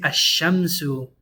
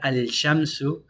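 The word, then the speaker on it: الشمس: And he's like, yeah, you say Ash-Shamsu wa duhaha, not Al-Shamsu.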